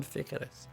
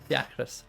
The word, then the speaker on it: Fiacrus: Why is it going Ficarus? Fiacrus.